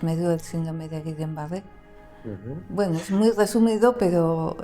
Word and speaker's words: Guillain-Barré: Y como son dos apellidos franceses, pues ahora lo pronuncio, me sale el acento francés.